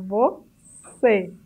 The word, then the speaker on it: você: Aqui em você, a sílaba mais forte é C, porque o E está acentuado. Mas veja que não é você, mas você. O acento circunflexo está indicando que esse E é fechado.